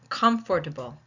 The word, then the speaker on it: comfortable: Comfortable. Well, you already see the way I have it spelled, so you know it's on the first syllable.